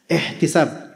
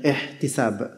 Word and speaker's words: ihtisab: Ihtisab. Gimana bacanya? Ihtisab.